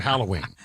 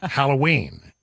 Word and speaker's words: Halloween: Everybody jumps on me about the way I say the word Halloween. It's Halloween. Apparently, all my life, I said it wrong. Halloween. And everybody said, no, the emphasis is on the wrong syllable there, Brian. You need to go. It's Halloween.